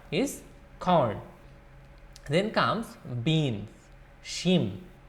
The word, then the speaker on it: শিম: Shim, or some say sim or shim.